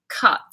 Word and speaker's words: cut: quite good question actually cut it's an AA put put yeah like bull yeah cut ah yeah put like yeah I'm also bear in